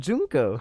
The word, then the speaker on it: Junko: No, but they said it. They said Junko.